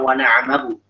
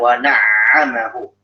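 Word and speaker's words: وَنَعَّمَهُ: Jadi kalau kita mengucapin wana'amahu, seakan-akan hanya baca wana'amahu. Sementara yang diinginkan wana'amahu. Ada dua ain.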